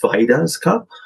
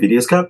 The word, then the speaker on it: Vaidya's: have for coffee is it's pronounced Vaidya's cup. I've been calling it Vidya's cup. I guess I got corrected by one of my classmates about it.